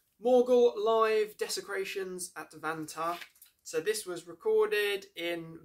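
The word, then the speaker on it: Vantaa: So that is Vanta, pronounced or spelled V-A-N-T-A-A.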